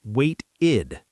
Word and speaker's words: waited: We add ed, waited, pronounced like wait-id.